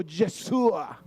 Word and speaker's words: Yeshua: Diga conmigo, Yesua, porque el nombre correcto de Josué es Yesua. En hebreo, Yesua. Mire, es lindo pronunciarlo.